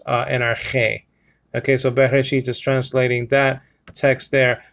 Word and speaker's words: Bereshit: all, it says okay, Bereshit or Reshith. Okay, depending where you live. Okay, Yemenite or whatever the case may be. Bereshit. Israel or Yisrael actually pronounces it Reshit with a t sound, with a t sound.